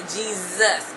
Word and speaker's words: Jesus: know in English um our our s's can sound like S as a snake or it can sound like it can be a z sound so that's how we